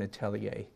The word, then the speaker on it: atelier: then go to an atelier a tea has spelled a tell yer a te l IE r @ l er it's a French word pronounced Atelier these have been spreaded